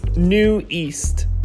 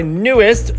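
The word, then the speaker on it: NU'EST: The Korean reads NEWEAST. Or NEWEAST. Not what a lot of K-pop fans say by newest, so who was today's years old when they learned this one?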